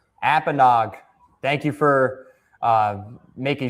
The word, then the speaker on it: Apponaug: Apenog. Thank you for uh making sure I had the right pronunciate pronunciation there.